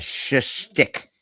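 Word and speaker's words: schtick: Start with sh. A sh stick.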